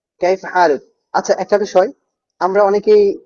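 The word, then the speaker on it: كيف حالك: এমন না এটা হচ্ছে এখানে হা আছে ভিতর থেকে উচ্চারণ করতে হবে যখন আমরা আরবদের সাথে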